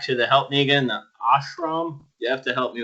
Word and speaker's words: ashram: Now, what devastating remark was made when John came back to help me again, the ashram? You have to help me with my pronunciation.